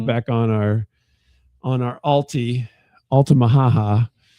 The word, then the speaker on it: Altamaha-ha: So there's got to be something to it in my mind, I'm gonna put it back on our Altie, Altamaha-ha, which to me sounds like Woody Woodpecker.